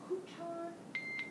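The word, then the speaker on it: Coton: She's a Couton teacher. Wow. You have to have a little French accent to pronounce it right.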